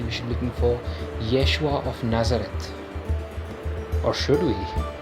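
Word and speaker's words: ישוע: Do you know how that would be pronounced in Hebrew? Yeshua.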